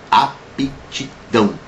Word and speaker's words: aptidão: E aconselho para todo mundo que tenha aptidão. Aptidão, porque o pé é mudo.